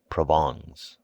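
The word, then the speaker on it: Provence: and his wife's relatives from provance pronounced provon he imported officials by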